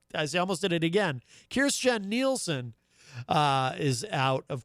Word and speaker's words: Kirstjen: her first name uh correctly the other day kirstjen nielsen rather kirsten gillibrand of course is a senator running for president uh christian christian or kirstjen jill uh i almost did it again kirstjen nielsen uh is out of course at uh